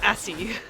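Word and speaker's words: Acis: It's A-C-I-S, Assie.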